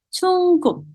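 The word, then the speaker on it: 중국: di sebelah kanannya untuk China, kita sebutnya dengan Chungguk. Oke, Chungguk. Jadi berbeda banget ya teman-teman ya, dari pengucapan dari bahasa Inggrisnya atau mungkin dari bahasa internasionalnya, beda banget.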